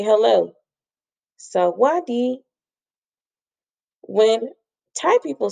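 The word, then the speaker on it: sawatdee: say smile this is how you say hello salwadi when thai people say hello or goodbye they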